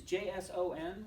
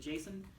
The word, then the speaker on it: JSON: that way on purpose this is not the name Jason this is JSON which stands for JavaScript object notation you're writing notes JavaScript